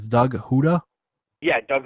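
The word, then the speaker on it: Houda: wrist alignment i'm probably gonna pronounce his last name wrong but it's doug huda yeah doug huda okay i got it right good yeah there's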